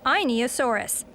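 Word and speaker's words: Einiosaurus: My name is Inosaurus. That's Inosaurus.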